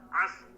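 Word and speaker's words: العصر: Pertama kita mengucapkan huruf shadnya dulu, as.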